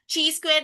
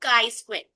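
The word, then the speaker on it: chi square: Okay, कल मैंने आपको बताया था इसकी प्रोनाउंसिएशन ची स्क्वायर नहीं है, इसको बोलते हैं काई स्क्वायर.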